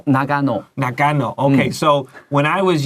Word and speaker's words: Nagano: Nagano. Okay, so when I was young, there was the Olympics, 奥运 in We said Nagano.